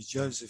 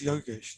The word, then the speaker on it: Yogesh: right um but the the manager couldn't pronounce yoga's probably kept calling me joseph for some strange reason but i think he's yogesh you're not joseph so he goes do